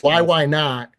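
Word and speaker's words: YYNOT: they're why why not it's spelled just like that y y n o t why why not um they they are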